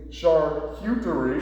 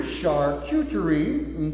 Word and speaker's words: charcuterie: beautiful candy how do you say it again charcuterie charcuterie okay and what we've done today is we've